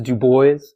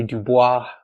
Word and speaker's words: Du Bois: The correct pronunciation is Du Bois. A lot of people say Du Bois, but he would always correct them on this.